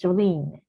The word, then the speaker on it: Jolien: Sorry, I was pronouncing your name wrong before, but your name is Jolien.